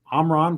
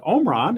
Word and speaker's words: Omron: If you have ever wondered about the correct pronunciation of Omron versus Omron, Evan and I were talking about this prior to the start of the webinar, and he assured me that both of these can be used and are used even within the company.